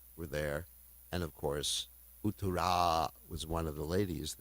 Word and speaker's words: Uttara: Virat was also named Uttara. There's Uttara and Uttara. So anyway, they had the same name with a different pronunciation of the last letter. Uttara is the lady, Uttara is the man.